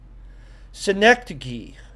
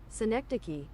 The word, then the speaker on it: synecdoche: Yeah, pronunciation. That's what we need on this. Synecdoche. Synecdoche. Synecdoche.